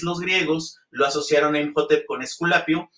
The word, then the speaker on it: Imhotep: Y bueno, pues también casi todo el mundo le dice Imhotep, ¿no? Porque pues en español pensamos que no se pronuncia el H, pero sabemos que el nombre original es Imhotep.